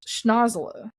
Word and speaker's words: Schnozzola: Um and it really should pronounce I pronounced it wrong actually in the narration. It's Schnozzola.